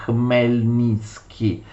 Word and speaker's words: Khmelnytsky: Si scrive così, ma in ucraino è un po' difficile, si legge Khmelnytsky, perché Khmelnytsky aveva generato